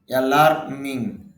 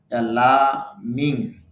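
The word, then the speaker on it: alarming: জনক অ্যালার্মিং উদ্বেগজনক, যদিও আইপিএতে দেখা যাচ্ছে র সাউন্ডটা নেই, এই জন্য আপনি র সাউন্ড না উচ্চারণ করেও পারেন, এইভাবে বলতে পারেন অ্যালার্মিং, অ্যালার্মিং উদ্বেগজনক।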